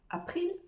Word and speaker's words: april: t s mar avril April là aussi c'est super facile pour les francophones à prononcer ce mot danois c'est comme avril mais simplement on remplace par un P April April on continue avec mai